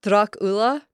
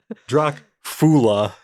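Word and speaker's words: droch fhola: But when you get into the Drach Ula, the second word Ula starts with an FH. Why? Why? FH is always silent in Irish. Oh, that's horribly confusing. It's not Drach Fula.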